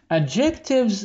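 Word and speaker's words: adjective: شايفين الكلمه دي ادجكتف فيها الدي طبعا ايه سايلنت ما ننطق الدي ادجكتف اللي هي الصفات يعني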